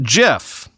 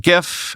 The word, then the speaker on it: GIF: despite the fact that Steve Wilhite who created the graphics interchange format said in 2013 that it's pronounced jiff and he invented the